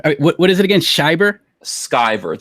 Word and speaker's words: Van Sciver: My name is pronounced Ethan Van Sciver, not Ethan Shiver or Ethan Scriver. I think I was saying Scriver. What is it again? Shiver? Skyver. Think Luke Skywalker.